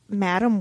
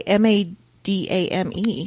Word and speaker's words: Madame: Madame how do you how do you say m a d a m e I think technically it's Madame but I've only heard people sayb yeah I've only heard people say Madam web so so I'm going